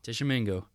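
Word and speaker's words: Tishomingo: Tishamingo. How do you spell that?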